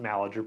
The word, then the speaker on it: Malaty-Uhr: Uh, Pronounced Malager, but if you read it, it's spelled Yeah.